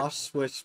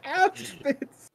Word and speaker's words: Auschwitz: off switch better. It's not off switch. It's Auschwitz. Get the historically fucked up location's name correct.